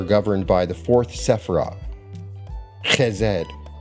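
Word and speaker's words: חֶסֶד: Now, on the tree of life, wealth and expansion are governed by the 4th Sephirah, Chesed. Some people pronounce it Chesed, spelled C-H-E-S-E-D, also called Gedula.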